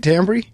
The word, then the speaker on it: Tambry: the book is finding is it tambry is that how you say it tambry exactly right finding Camry you guys